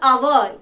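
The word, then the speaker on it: hour: And in an article, for example, our, H-O-U-R, our, H is a consonant. But when you utter the sound, that time our, and it is pronounced as a vowel.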